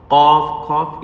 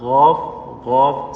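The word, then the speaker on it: قاف: Qaf, not ghaaf. Some boys are actually trying to pronounce it like as a ghaaf. That's wrong, 100%.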